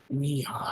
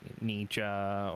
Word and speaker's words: Niha: The way it's spelled, most people say ninja or That it's ninja, and it's just there's a lot of different variations that people give me.